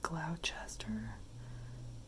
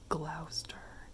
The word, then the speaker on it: Gloucester: want to say like cloudchester because all those letters exist but i'm guessing that it's like gloucester and you just ignore the middle part entirely i think